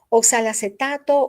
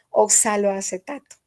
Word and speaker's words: oxaloacetato: Oxalacetato u oxaloacetato, eh, de las dos maneras se le puede llamar. Para mí lo más correcto es oxaloacetato, aunque a veces al pronunciarlo se le va a uno de un solo, ¿verdad? Decir oxal acetato.